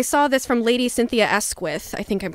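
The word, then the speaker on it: Asquith: And I saw this from Lady Cynthia Esquith. I think I'm pronouncing her name right.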